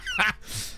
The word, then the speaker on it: Nice: It's pronounced Nice.